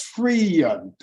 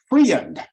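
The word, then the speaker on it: Freund: you spell that's p as f-r-e-u-n-d that's Freon Freon call friend and Boris Karloff was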